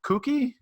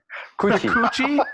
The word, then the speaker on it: Kuqi: Craig Wright chief scientist at end chain and we have all right how do you say your last name coochy coochy coochy yes as an American I